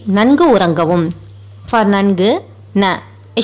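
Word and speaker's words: நன்கு: While pronouncing it, the tip of your tongue touches the back of your teeth.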